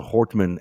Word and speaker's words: Hortman: Um you know we're seeing this it's sorry I I misspelled I think I mispronounced the name. It's Melissa Hortman and Senator John Hoffman.